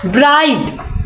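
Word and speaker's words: bright: silent है इ में बी आर आई जी एच टी ब्राइट ब्राइट माने का हो चमकीला इ में जी साइलेंट है जी एच आई में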